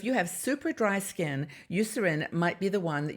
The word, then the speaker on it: Eucerin: product line is use I think it's pronounced Eucerin you serve in this is a huge